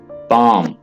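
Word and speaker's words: palm: पाम, यहां पे S silent है, ठीक है, आपने इसे सॉरी एल साइलेंट है, आपने एल को नहीं पढ़ना है, आपने इसे पाम पढ़ना है।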